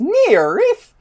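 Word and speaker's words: NIIRYF: r y f pod which are the letters for not if i beat you first and that's pronounced near reef my other podcast which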